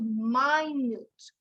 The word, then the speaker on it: minute: very small so it's minute number two it's pronounced my news number one minute number two minute i finished